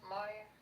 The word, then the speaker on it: Maher: How do you say his name? Moyer. Moyer.